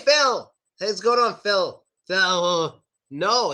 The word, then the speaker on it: Phil: My name, Phil, ends with the L sound. And I advise you to pronounce the L. It's a good idea to say Phil. Phil. But in America, my friends, they never pronounce the L. They don't pronounce it at all.